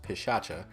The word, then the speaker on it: Pishacha: I believe the name for this armor is pronounced pishacha and its main perk is called Fantasmic thrust